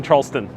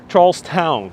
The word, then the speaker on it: Charlestown: yes sorry everyone i keep saying charleston uh just because i'm so used to a lot of places that have that t-o-n most places have t-o-n they have t-o-w-n so charlestown sorry for the mispronunciation